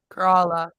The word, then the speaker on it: Kerala: Kerala.